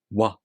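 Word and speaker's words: わ: Did you notice? This is exactly the same as the U vowel. Remember this. For the W sound, you make the tongue position of the U vowel. Wa, wa, wa. Finally, the last point.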